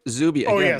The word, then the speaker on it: Zubie: Zubie, it's pronounced Zubie.